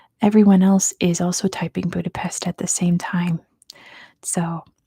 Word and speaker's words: Budapest: It is Budapest, as we say in America. Good job to Acid Nutria for getting it first. The answer is Budapest. It's really Budapest, but in America, we just say Budapest.